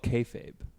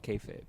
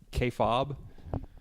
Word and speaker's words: kayfabe: It's for the longest time I was calling it kayfob.